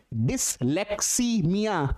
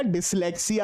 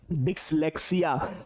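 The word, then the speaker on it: dyslexia: थोड़ा सा ध्यान से डिस्लेक्समिया ये गलत है। प्रोनाउंसिएशन पे जाइए यहां पर। ये आपका डिस्लेक्सिया होगा। देखो पढ़ने में कितना गड़बड़ हो रहा है। डिस्लेक्कीसीमिया नहीं केवल और केवल डिस्लेक्सिया।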